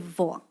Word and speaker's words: voix: then they decide, no, instead of voice, we're going to put X there. But also, we're not going to pronounce it. And it's just going to be vo.